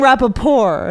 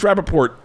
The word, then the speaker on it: Rappaport: wrong yeah was losing you kept saying rapid poor it's Rappaport Rappaport you were saying it like with an unpleasant accent and he goes bro